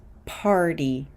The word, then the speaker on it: party: word party party so this T is after an R sound n before a vowel sound remember y sometimes represents a vowel sound in English so the pronunciation here is party party party or the word 40